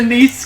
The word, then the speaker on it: Nice: Did you say he's a niece guy? I knew that would get you. For those of you who don't know, niece is the girl he's in love with. Spelled nice. Yes, spelled like nice.